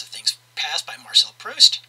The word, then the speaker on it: Proust: things past by Marcel Proust yes that's how you pronounce it it's French when your turn-ons muscles